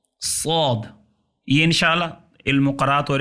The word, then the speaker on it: صاد: صاد یہ پرحجم اور بھاری حرف ہے. سین میں بھی سیٹی ہے, صاد میں بھی سیٹی ہوتی ہے, لیکن سین کی جو سیٹی ہے وہ باریک ہوتی ہے اور صاد کا تلفظ اس کی سیٹی پرحجم بھاری ہے. صاد. صاد. زبان کا سرہ, زبان کا اگلا حصہ ثنایا سفلا جو نچلے درمیانی دو دانت ہیں ان کے کناروں سے ٹکرائے. صاد.